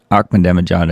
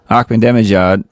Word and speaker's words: Ahmadinejad: Ahmadinejad, I think.